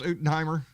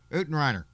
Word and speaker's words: Utenheimer: Dennis Utenheimer. I know I said Utenreiner. I say it wrong all the way.